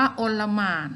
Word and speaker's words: อลหม่าน: ต้อง ค้น แล้ว แหละ อ่าน ว่า โอน ละหมาด นะ คะ โอน ละหมาด อลหม่าน แปล